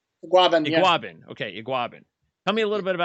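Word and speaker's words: Igbinoghene: Is that how you pronounce his name? Iguabin.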